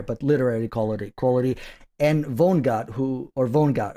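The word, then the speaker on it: Vonnegut: lit not higher but literary quality quality and Vongut who or Vongut how do you vongut how do you pronounce Vonart Vonagut Vonagut okay Kurt Kurt Vonagut from the 60s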